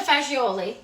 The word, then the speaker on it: fagioli: Can we say fagioli? Fagioli? Really? Why do we say Do you fagioli? guys, take a poll. Do you guys like Cappy. fazool? Pasta fagioli.